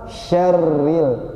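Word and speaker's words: شَرِّ: ada Ro bertasdid nah tapi ro bertasjid ini sering orang tebalkan Pak jadi gini bacanya Pak nih orang yang sudah belajar masih banyak suka ditebalkan seperti ini kalau ada masih bacanya seperti itu itu belum tepat ya syarril yang benar syarril syarril tipis Kenapa Pak karena rnya berharakat kasrh ya jadi ro berharakat kasrah itu dibaca tipis ya Nah ini tipis Jadi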